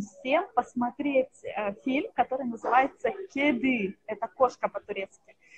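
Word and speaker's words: kedi: Но я советую очень всем посмотреть фильм, который называется «Кеды». Это кошка по-турецки. Пишется латиницей «К-Е-Д-И». Да? То есть «Е» как русская, «И» как «И» с точкой. Да? «Кеды».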